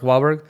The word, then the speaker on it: Wahlberg: Mark Wahlberg, the actor?